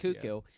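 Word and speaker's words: Koekkoek: And so Slater Kuku, I keep wanting to say Coac because that's how it's spelled, but it's pronounced Kuku.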